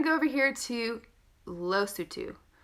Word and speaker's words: Lesotho: Then we're going to go over here to Lesotho. Lesotho, the best to memorize is it looks like a little baby tooth. Lost a tooth.